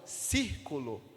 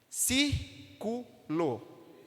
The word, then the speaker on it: círculo: que é palavras como círculo didático exército percebe que círculo tem quantos quantas sílabas circulo três três sílabas a força tonicidade a gente encontra em qual hein se círculo não é verdade na palavra didático nós